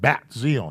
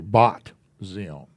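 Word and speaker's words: בת ציון: Talk about bat Zion. Well, it's actually bot Zion.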